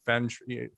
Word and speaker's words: feng shui: I'm pronouncing that right? Feng shui.